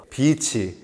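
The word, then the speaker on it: beach: 그대로 해변 이란 뜻이죠 발음 조심하셔야 됩니다 이게 장음 단 음으로 아비치 란 단어가 굉장히 창 반대 뜻을 가지고 있습니다 그렇기 때문에 이게 자음으로 해야 아마 비치 해변 이 될 거에요 짧게 하시면 굉장히 나쁜 요리 됩니다 너도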